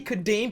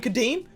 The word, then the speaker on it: Kadeem: one guy that always comments me pronouncing his name wrong cadine are you happy Kadeem Kadeem Kadeem anyway all these players are not gonna end